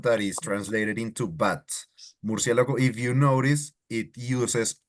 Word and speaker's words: murciélago: So it wouldn't be like murciélago. No, murciélago. No o.